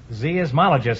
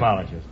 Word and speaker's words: seismologist: What does a zeismologist study? A zeismologist. Insects. Talk it over now. Mm. Would you pronounce it again?